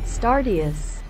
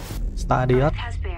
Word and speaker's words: Stardeus: Phát âm cho. Stardust. Stardust.